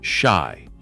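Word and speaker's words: 四: In Japanese culture, the number four is pronounced shy, the same word as death.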